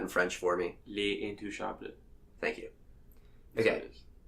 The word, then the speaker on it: Intouchables: was called the intouchables yes would you mind pronouncing that in French for me Lee Ann to shopton thank you okay it's a really good movie